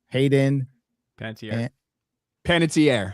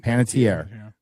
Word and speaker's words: Panettiere: You pronounce her last name right, Ryan. Hayden Panettiere. Panettiere, who passed away before her 37th birthday.